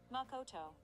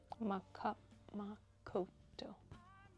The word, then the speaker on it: Makoto: Makoto. Makoto. Yeah, lot of silent vowels. Yeah, that's so it's Yeah, see I'm wanting to pronounce the vowels that are actually silent.